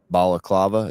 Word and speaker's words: balaclava: Am I pronouncing that right? Balaclava.